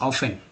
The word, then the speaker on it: often: ऑफन क्यों पढ़ते हैं, ऑफन ऑफन ऑफन, टी को यहाँ साइलेंट कर दिया गया है, ऑफन पढ़ते हैं, ठीक है, तो ऑफन वर्ड है लेकिन ऑफ्टन लोग पढ़ते हैं, जो गलती उच्चारण है, गलत उच्चारण है, तो